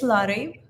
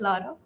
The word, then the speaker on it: Larry: what your name can can you pronounce it for me yeah it's Larry Larry oh fantastic welcome we're glad to have you here if you if you're not able to pronounce I'm okay with Lara um many of my team members do call that so I'm okay with okay